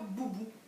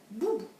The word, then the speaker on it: Boubou: Dans boubou, j'entends la syllabe bou. Je mets un B majuscule parce que c'est le nom du docteur. Un O, un U pour faire bou.